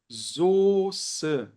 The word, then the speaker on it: Soße: Essa aqui é a escrita estrangeira da palavra, mas na hora de pronunciar, a gente pronuncia dessa maneira aqui, olha, Soße, tá?